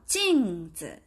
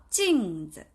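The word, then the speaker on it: 镜子: 샤오, 징즈. 징즈 하면 거울이란 뜻입니다. 징즈. 같이 한번 발음해 볼게요. 징즈. 예. 여기 지금 보이시는지 모르겠는데 얘가 사성 경성이에요. 그러면 징즈. 즈는 가볍게 딱 떨어뜨려 주시면 돼요.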